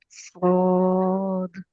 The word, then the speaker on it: صاد: अलिफ लाम मीम साद। صاد। अब इसकी आप देखें ना, इसकी जो हिज्जे हैं सौद के, दाल साकिन है ना, तो दाल का कलकला तो हम करेंगे ना, सौद।